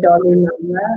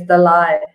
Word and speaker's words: Dalai: Over here we say Dolly Lama. It's not Dolly, it's Dalai.